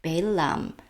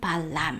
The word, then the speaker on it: Balaam: turns curses into blessings, like Balaam, 그 발람의 예에서 보는 것처럼 Balaam 또는 발람 하고 그대로 발음해도 됩니다.